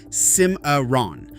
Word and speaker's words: Cimarron: Ouachita is pronounced Washita and Cimarron is Cimarron. Both regularly butchered by outsiders reading a map cold.